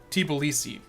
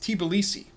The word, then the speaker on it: Tbilisi: By the way, this is pronounced Tbilisi. It's got a whole other syllable in it that we seem to miss. It's not Tbilisi, it's Tbilisi.